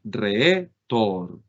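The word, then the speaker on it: ῥήτωρ: Donde tiene el acento, esto que nosotros estamos viendo acá, lo vamos a tener en la penúltima sílaba, de esta manera. Entonces aquí nosotros tendríamos la palabra retor, palabra que significaría simplemente orador, retor, orador.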